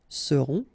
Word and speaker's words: seront: pronounced, then on, on, seront, vous serez, a Z together at the end, et serez, alright, ils seront, final T not pronounced, and then you've got this nasal, on, seront, elles seront.